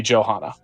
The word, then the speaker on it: Johanna: you know nonetheless it it should be a j sound when it's a French version of Johanna rather than a y sound for a German so it would be Johanna and quite likely shortened